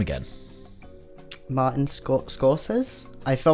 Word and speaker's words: Scorsese: Martin Scorsese? I feel like I'm pronouncing this wrong. You're going to bully me now, aren't Yeah. you? There you go. Go on. It's Martin Scorsese.